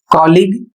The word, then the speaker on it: colleague: अगला शब्द है COLLEAGUE कॉलिग, इसका अर्थ होता है सहकर्मी।